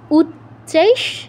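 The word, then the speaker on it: উচ্চৈঃ: আছে উচ্চাই শ্রব সামস্ও উচ্চাইস দেখো প্রথমেই চ দুটো চ আছে মানে উ এর পরে তো প্রথম চ তে টাচ করে আরেকটা পূর্ণ চ উচ্চারণ করতে হবে সাথে ইকারে যুক্ত হবে উচ্চাইস উচ্চাইস সমস্ব তুমি একবার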